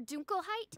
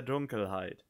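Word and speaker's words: Dunkelheit: crystal oh no oh the pronunciation of the german words it's edelstein their dunkerheight edelstein their dunkleheid edelstein on the contrary mainfry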